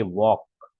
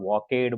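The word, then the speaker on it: walked: ए एल के ईडी वक इसका प्रोनंसिएशन खास सुनना प्ले का मैंने बोला प्लेड वक का बोला मैंने वक कुछ लोग होते उसको प्लेड बोलते हैं और वकेड बोलते हैं तो वकेड नहीं होगा क्या होगा वक प्रोनंसिएशन में ध्यान में रखना फिर सी ओ एम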